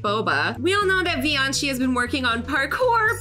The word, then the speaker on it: Vioncii: Okay, I said Vioncii in my last video. It is Vioncii.